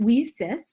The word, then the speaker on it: WiCyS: We often go by our acronym WeSys, W-I-C-Y-S, and we pronounce it WeSys, like we sisters, because that's exactly who we are.